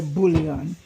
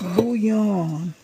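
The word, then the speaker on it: bouillon: I think it's a French word. And the L is silent.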